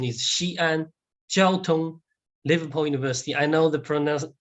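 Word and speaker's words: Xi'an Jiaotong-Liverpool University: Well, first of all, the pronunciation is Xi'an Jiaotun-Liverpool University.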